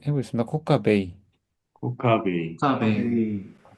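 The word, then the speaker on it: כוכבי: 코카베이 코카베이 코카베이 예 근데 어떤 사람들 그냥 코카베로 있기도 해요. 코카베음 코카베카베이 둘 다 됩니다. 저는 배울 때 이제 코카베로 애로 발음해라고 배웠는데 또 어떤 분들은 A로 발음하시더라고요.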